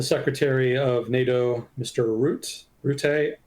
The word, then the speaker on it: Rutte: Rutte. I keep forgetting how to pronounce his name. I always want to call him Rutte, but that's not correct apparently.